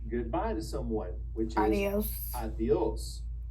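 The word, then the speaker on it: adiós: Now notice adios has an accent on the O. And also that D is going to be a little bit forward too. Push your tongue a little bit forward and say adios.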